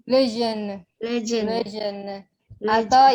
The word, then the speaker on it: jeûne: Rompre les jeûnes. Les jeûnes. Les jeûnes. Les jeûnes. Atau yang lebih mudahnya la rupture. La rupture Des jeûnes. des jeûnes. Jeûne. Jeûne. Kalau J itu biasanya pengucapannya Z. Jeûne.